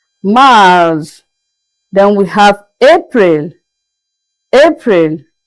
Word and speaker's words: mars: March is is pronounced as Mars. Mars.